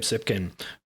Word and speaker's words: Tsypkin: legion.sc all right we are here with jacob zipkin from actually let me just check on that is that the correct way to pronounce your name that is the correct way